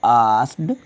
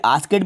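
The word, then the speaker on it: asked: हटाकर आप लिख दीजिएगा आस्क्ड। ठीक है, आस्केड भी नहीं पढ़ते, इसको आस्क्ड, ये के को थोड़ा साइलेंट कर लिया जाता है।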